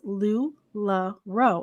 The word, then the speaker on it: LuLaRoe: to discuss today you guys and that is lou la ro am i saying it correctly lodi yes ma'am